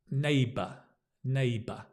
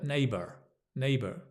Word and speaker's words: neighbour: you up here so Neighbors the pronunciation in the UK is neighbor neighbor you'll notice in America in the US there's more of a neighbor neighbor it's very very similar but there is a bit of an R sound neighbor neighbor whereas English UK English is with AA neighbor neighbor neighbor stress on the first syllable neighbor my neighbor uh